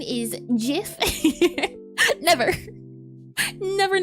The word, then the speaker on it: GIF: And the correct pronunciation is Jif.